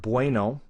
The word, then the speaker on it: bueno: The problem is the pronunciation is exactly the same. It's bueno. It's kind of a BV for both.